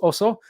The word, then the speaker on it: oso: the oso system uh pronounced also like bear in in spanish right uh and that